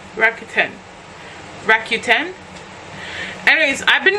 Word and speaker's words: Rakuten: this thing it's called keep forgetting how it's pronounced Rakuten Rakuten Rakuten rack Q10 anyways I've been doing it for